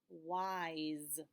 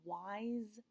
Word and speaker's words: wise: like in bugs well here's the funny thing when you have an S with a silent e after it makes the same sound it makes a sound so let's try to read this word well I wise like a wise owl so I picked this word just so I could show you that that S is making a Z sound but that's because it's